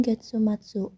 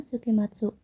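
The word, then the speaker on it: 月末: Hai, jawabannya Getsuatsu yang berarti akhir bulan. Kita bahas opsi lain kenapa salah. Yang pertama, sukimatsuk. Meskipun secara harfiah suki berarti bulan, sukimatsu bukan bacaan yang umum untuk akhir bulan dalam konteks ini.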